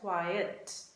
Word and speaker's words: quiet: be quiet full stop quiet english quiet we pronounce it as quiet q-u-i-e-t the other word is quite proportion it is quite normal it is quite hot right that is the difference between the two words so the teacher said